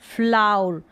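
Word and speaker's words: flour: फ्ल, ओ यू को आउ और र, फ्लाउर, फ्लाउर यानी कि आटा। फ्लाउर का मतलब आटा, तो इसको फ्लाउर इस तरीके से प्रोनाउंस कर दे, फ्लाउर।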